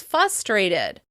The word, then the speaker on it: frustrated: Some people say "frustrated" as "fustrated" or "library" as liberry."